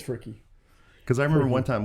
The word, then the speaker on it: Fricke: so that's been the big question so far fricky or frick how do they know how do they pronounce it whatever you want it's freaky for real but didn't they we can kind